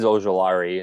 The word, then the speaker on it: Ojulari: Oh, Derek, it's Ojulari.